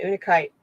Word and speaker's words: Unakite: It's Unakite. And I always look at it as una because I think it's multiple things, so it's in unison.